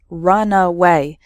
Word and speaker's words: runaway: speed before taking off so the first word has three syllables runaway and the second word has just two syllables runway completely different meanings okay